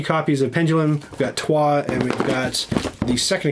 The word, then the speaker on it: Troyes: So it's named after a place in France, Trois, and it's like the number 3 except spelled differently.